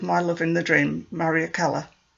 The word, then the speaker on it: Mariekkela: love in the dream maria keller pronounced marie akala her story seemed more